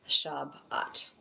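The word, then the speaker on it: שבת: Therefore, you're going to cut that in half and it is shabat.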